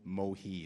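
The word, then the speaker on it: Mohee: the 19th century then the word is spelled m-o-h-e-e or m-o-h-e-a um and so this is a song about uh heading into the port of maui it's called rolling down to old mohi is the way we're going to sing it it's a damn tough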